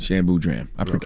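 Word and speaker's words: Shan Boodram: Shan Boudram.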